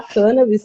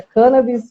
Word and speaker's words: cannabis: Foi inclusive lá que eu escutei pela primeira vez a pronúncia cannabis no lugar de cannabis, que foi apresentada pelo